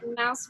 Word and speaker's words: mouse: Okay, let's try our mouse from our book, if you remember. So with this word, it's a little tricky because that E ends up being silent E.